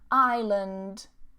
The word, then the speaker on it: island: This is also the same as aisle. Okay, like I will, aisle. Same pronunciation. Island, island. Not island.